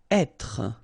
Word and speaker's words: être: Être. Okay, so remember that when you get this accent circonflexe here, you should really pronounce it openly. So, être. Okay, don't insist on the final être.